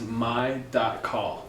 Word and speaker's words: My.Call: Is my.call, but it's just pronounced my call. Okay. So my name's Michael. So and it's my calling.